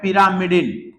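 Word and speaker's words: pyrimidine: एक ग्रुप का नाम है प्यूरिन, इसको आप क्या पढ़ोगे प्यूरिन, और एक ग्रुप का नाम है पिरामिडिन, या इसको कोई पैरामिडिन भी बोलता है।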